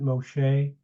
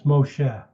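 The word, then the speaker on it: משה: uh obsessive compulsive uh people often pronounce it Moshe I have a hard time with that uh it's Moshe Moshe okay okay let's keep going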